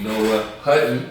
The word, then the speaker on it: Noah Hutton: First happened of the day, I told y'all, get into the meeting with my homie Noah Hutton.